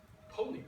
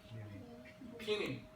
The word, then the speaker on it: peony: It's a pony, right? Pronunciation is correct. Pony. Sorry. Peony.